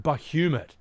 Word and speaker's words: Bahamut: They pronounce Bahamut Bahumat.